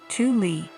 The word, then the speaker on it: Thule: Located in Greenland, about 930 miles south of the North Pole, Thule Air Base, pronounced Thule, is the northernmost military base of the United States.